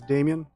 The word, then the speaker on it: Damjan: My name is Damjan. The J is silent, but the message is strong.